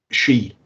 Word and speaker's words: Sidhe: She.